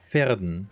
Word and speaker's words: Verden: Wird es jetzt Verden ausgesprochen oder Verden? Pferden. Pferden, okay. Mit Fenster-V.